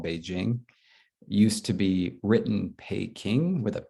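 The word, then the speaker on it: Peking: reason right is because it was a voiceless stop but of course when you pronounce it in english we get this huge aspiration which is not there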